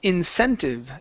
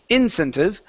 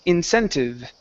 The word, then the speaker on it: incentive: This word here is pronounced incentive. The stress is here in the middle. Instead of incentive, the word is incentive.